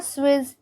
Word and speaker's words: suis: So usually this word suis is pronounced as suis. Only when it is followed by vowel, that S gets pronounced as Z. So it becomes je suis. Otherwise it is je suis.